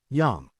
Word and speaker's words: Yam: Yam sounds like Yamm.